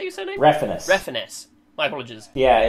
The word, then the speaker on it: Refenes: Refenes. Refenes. My apologies. Yeah, you got to pronounce it the most white way possible.